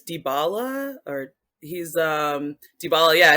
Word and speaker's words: Dybala: were um i never i always mispronounced his last name but it's dybala or he's um dybala